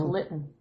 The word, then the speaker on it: Lytton: Yeah, it's Lytton.